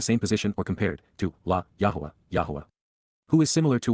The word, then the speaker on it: Yahowah: Yahowah, Yahowah, the proper pronunciation of the name of Eloah, God as